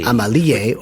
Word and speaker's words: Amélie: It's Amélie, but you could pronounce it Amélie or Amelie.